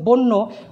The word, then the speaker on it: বন্যা: তাহলে আদ্য অয়ের পরে জফলা থাকলে আমাদের আদ্য অয়ের উচ্চারণ ওয়ের মতো হবে।